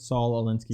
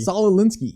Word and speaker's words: Saul Alinsky: Saul Alinsky. Saul Alinsky.